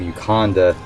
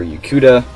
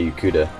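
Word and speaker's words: Yokuda: from the island of you Conda or you cuda I should say you cuda that's i pronounced it BAM you cuda is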